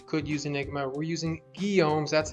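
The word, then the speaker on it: Guillaume's: although you totally could use enigma we're using guilloms that's how you pronounce it hi lords although we actually don't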